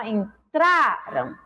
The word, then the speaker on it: entraram: Em entraram, ó, entraram, o tra é mais forte, né? Então, nós temos aí a penúltima sílaba como a sílaba mais forte, se trata de uma palavra paroxítona.